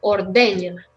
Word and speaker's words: ordeña: Aquí Marshall, ordeña. Ordeña. Eso. El acento es en la segunda sílaba.